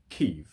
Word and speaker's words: Kyiv: We're, you know, us as English speakers, we've always said Kiev, Kiev, Kiev, Kiev. And now it's reporting live from Kyiv, yeah? The latest thing out of Kyiv.